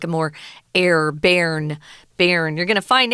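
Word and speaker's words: Bern: but we're going to a smaller place called bar um and you might hear some foreigners who speak English as a native language call it burn I've heard people say burn but most people especially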